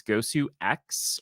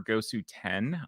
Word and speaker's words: Gosu X: But the one that I really do want to mention is Gosu X or Gosu 10, depending on how you pronounce it, or whether you think it's a 10 or an X or whatever.